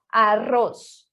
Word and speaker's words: arroz: E o vibrante múltiplo, que seriam 2 R, seria muito mais forte quando falamos arroz, ahorro, perro.